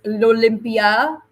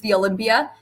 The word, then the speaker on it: L'Olympia: we're gonna be at in French it's Olympia but uh to the rest of us it's just the Olympia the Olympia Theater in